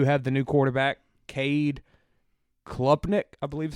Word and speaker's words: Klubnik: One thing about them, they do have the new quarterback, Cade Klubnik, I believe is how you pronounce it. Kubnik. I don't think there's an L. There's an L.